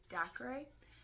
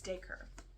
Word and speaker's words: Dacre: his name already because I pronounce it Dacre, but it's Dacre. That's how you pronounce it.